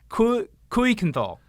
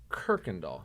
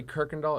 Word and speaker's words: Kuykendall: say this is ku kuikenthal so we're close not really um so it's dutch okay and the u y makes an er sound uh-huh so it's pronounced kirkendal kirkandal look at it